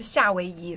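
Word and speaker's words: 夏威夷: So, Hawaii is like the direct translation, the pronunciation translation of Hawaii into Chinese.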